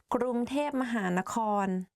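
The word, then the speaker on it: กรุงเทพมหานคร: people talk about Bangkok, they will say ก ร ุ ง เ ท พ because like conversation wise it's easier to pronounce like that ก ร ุ ง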